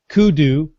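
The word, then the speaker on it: Koodo: wet coaster it's uh Kudo KO o d o but it is pronounced Kudo okay good thank you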